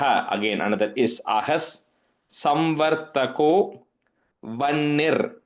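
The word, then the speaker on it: वह्नि: normally in that case the ह इस like a silent ह इट्स कॉल्ड व्नी वनी मीन्स अग्नि सो इट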